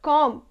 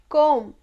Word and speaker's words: comb: right but it's not comp it's comb the last letter in this word will be silent lust is it will